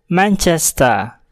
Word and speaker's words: Manchester: yang berbunyi konsonan contohnya Manchester Manchester huruf r pada kata tersebut tidak dibunyikan dikarenakan terletak diakhir kata dan hanya akan terdengar cara-cara Manchester Manchester contoh lainnya ada pada kata